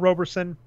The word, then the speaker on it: Roberson: without shooting a lot apologies Robertson I've been saying it wrong and is not Roberson Ryan is right all